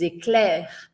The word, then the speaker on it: Éclairs: O que tá em vermelho são as letras finais que a gente não pronuncia. Então eu não vou falar a letra E não vou falar a letra S, né? Então não é sinfonie ecls, é sinfonie des ecler.